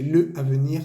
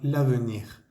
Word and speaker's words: l'avenir: Obviamente pues no se dice le avenir, sino l'avenir.